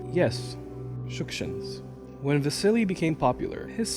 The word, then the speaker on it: Shukshins: I say the surname with the emphasis on the first syllable because that's the correct way to pronounce it. Yes, Shukshins.